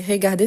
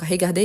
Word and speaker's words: regarder: Donc, pour ceux qui aiment bien la capture d'écran, n'oubliez pas, si c'est regarder, c'est toujours l'accent aigu, jamais l'accent grave. Pourquoi? Parce que ça change la prononciation. Donc, regarder et pas regarder.